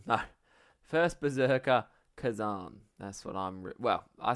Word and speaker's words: Khazan: check how you say it the first Berserker Kazakhstan no first Berserker Kazan that's what I'm well I say I'm reviewing